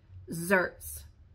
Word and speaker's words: xertz: but it is pronounced as though it starts with a Z, zerts.